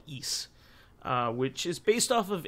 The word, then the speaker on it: Ys: is the correct pronunciation of the series that is spelled Ys. So like a lot of people would call that Ys back in the day, or you know, something to that degree, but it's called Ys, which is based off of a similar legend